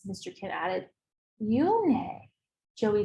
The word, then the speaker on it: Unhei: she nodded slowly yes it's pronounced yoon hey and it means grace mr kin added yoone joey said slowly and